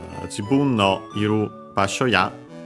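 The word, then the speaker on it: 場所: Yeah, basho means place, location, spot, and so on, unaccented.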